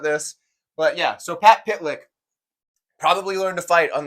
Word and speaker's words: Pytlik: have Pat pitlick yes his name is pitlick I've confirmed this with someone who knows him it is pronounced pitlick that would be rough